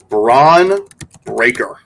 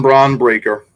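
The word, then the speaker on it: Bron Breakker: number nine we have braon breaker another Bron but spelled differently this time oh spelled like LeBron yes Bron braon breaker see that sounds like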